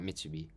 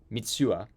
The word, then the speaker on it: Mitsuha: So as Taki is Mitsubi trying to gather everybody, sorry, I'm saying it wrong. Not Mitsubi. Mitsuha.